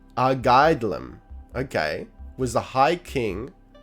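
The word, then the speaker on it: Airgetlám: Pronounced Argaidlam, okay, was the High King of the She.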